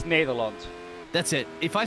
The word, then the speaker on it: Nederland: Actually, it's How do you say Netherlands? Because it doesn't have an S on it, right? In Dutch. No, it's Nederland.